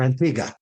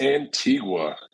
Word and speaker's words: Antigua: I'm gonna ask you is it Antigua or Antiga it's Antigua I've heard a few different variations I've been